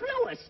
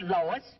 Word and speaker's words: Louis: Me name is Lewis, not Lois. Gee whiz, everybody interpolates me name wrong. It's Lewis.